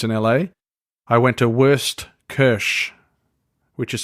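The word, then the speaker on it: Wurstküche: awesome food experience in LA I went to worst Kersh which is spelled w urs T ke u with the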